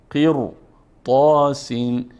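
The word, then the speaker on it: قِرْطَاس: ما خلاف عادت باریک نمیخونیم پر میخونیم قر قر طا سین قر قر نمیخوانیم قر قر طا خب دوستان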